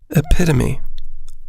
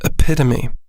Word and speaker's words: epitome: on the donkey entails both concentration and luck epitome epitome it's a noun and i'll spell it e-p-i-t-o-m-e it means a perfect example